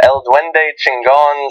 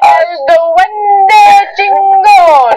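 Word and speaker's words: El Duende Chingón: One coming in from El Duende Chingon saying... You're not saying it right. I'm not going to go crazy. That's Jenks' thing. El Duende Chingon!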